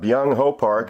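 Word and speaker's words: Byung-ho Park: say his name at dh park oh uh young ho park a korean hitter another korean power hitter he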